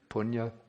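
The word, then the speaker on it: puṇya: In Pali, we have the word punya. In Sanskrit, the pronunciation is the same, punya.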